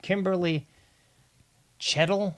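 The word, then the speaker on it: Kimberly Cheatle: Um, yeah, I was mispronouncing her name. Kimberly Chedettle, I think is is the correct pronunciation of her name.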